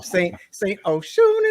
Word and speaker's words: St. Oshun: st.oshun in the house.